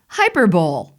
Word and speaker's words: hyperbole: me the most number five this word is pronounced hyperbole look at that word how would you pronounce that hyperbole right well i was a mad reader i